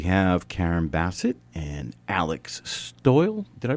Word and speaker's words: Stoyle: about coffee we have Karen Basset and Alex stole did I pronounce that you got it yeah one's from